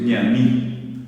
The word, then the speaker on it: ñaní: Una palabra que es guaraní, que se usa en muchos lugares, acá a lo mejor menos, es ñaní.